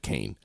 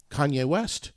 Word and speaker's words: Kanye: love Kanye West because you said Kane that's how much you love him no he's pissed that you mispronounce his name right I know he's